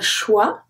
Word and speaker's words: choix: So we have un choix, choix, no X. On say choix.